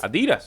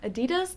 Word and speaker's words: Adidas: let's jump in hey have you seen my Adidas shoes your what shoes Adidas yeah um Adidas the brand oh Adidas um not sure maybe you've left them in